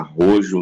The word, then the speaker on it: Rojo: Falei Rojo, né? Porque é a maneira certa de pronunciar, né? Porque é vermelho em espanhol, né? Aí aqui a dublagem pronuncia como rojo, né? Tipo, do jeito que tá escrito é o jeito que eles leem, né?